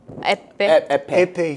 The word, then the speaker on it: Eppe: Epe.